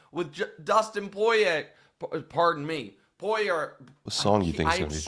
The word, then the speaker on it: Poirier: The back end of it is what's supposed to be tricky because it's French.